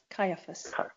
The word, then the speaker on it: Caiaphas: But the thing about it is, as I grew older, is it, how do you pronounce his name? Is it Caiaphas, the head Jewish? Caiaphas.